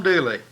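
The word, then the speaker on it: Dula: They spelled it D-U-L-A and pronounced it Dooley, but these dolls are D-O-O-L-E-Y, and the song was D-O-O-L-E-Y.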